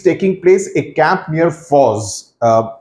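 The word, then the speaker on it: Forres: Now, this is taking place a camp near Foz. The way it's pronounced is almost as if the spelling would be F-A-U-Z.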